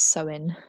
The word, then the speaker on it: Samhain: So there is two meanings, and Samhain is spelled Samhain, but it's Samhain.